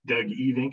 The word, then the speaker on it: Evink: aircraft preheating and that's being presented by e think am i pronouncing your name right yes okay good even he's the president and owner of tannis aircraft